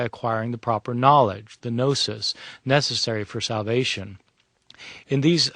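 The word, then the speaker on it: gnosis: The the term gnostic comes from a Greek word nosis spelled with a g n o s i s nosis which means knowledge.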